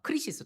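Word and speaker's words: κρίσις: 근데 이거를 헬라로 찾아보니까 아 크리시스 똑같은 단어더라고. 크리시스라고 읽을 때만 좀 다르더라고요.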